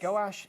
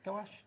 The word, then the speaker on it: gouache: I say gouache, but actually, when you look at people on YouTube doing tutorials, everyone pronounces it differently. Okay. And it's a French name, so I would imagine it's probably pronounced differently in different parts of France as well.